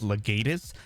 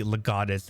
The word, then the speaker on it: Legatus: saying it was pronounced legatus it is definitely legatus it is a latin word now going from all